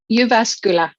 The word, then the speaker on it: Jyväskylä: Jyväskylä.